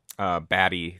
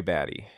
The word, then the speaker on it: Batty: item was baddie Roy batty that's what they were seeing I thought it was a tea but it's spelled be a TTY and I think someone